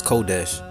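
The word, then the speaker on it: חודש: and the Torah was translated as hodesh pronounced as kodesh this is very important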